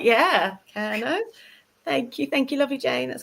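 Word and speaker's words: Kernow: Yeah, from my knowledge, it's pronouncing it right. Yeah, Kerno.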